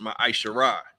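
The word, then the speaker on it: ma'aser: Malachi 3 verse 8-10 means 10th in Hebrew and is pronounced ma isar 10% of every penny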